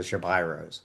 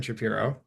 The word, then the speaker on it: Shapiro: So, I am here not with Evan Shapiro, with Evan Shapyro, which uh has blown my mind that that's how it's pronounced.